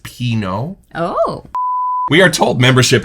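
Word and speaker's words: Pinaud: which somebody said in our comments is actually pronounced Pino.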